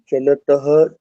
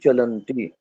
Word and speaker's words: चलन्ति: चलतः चलन्ति। तो चलंती, चलती दीर्घ नहीं है और लगभग इसके उच्चारण में दीर्घ होता है। जैसे वाहनम चलती, वाहनानि चलंती बोलते हैं ना। वाहनं चलति वाहनानि चलन्ति।